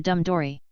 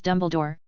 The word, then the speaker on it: Dumbledore: Wade purposely mispronounced Dumbledore<unk>s name because Mrs. Cole had made the same mistake when she introduced him earlier. Dumbledore helplessly corrected him. Actually, my name is Dumbledore.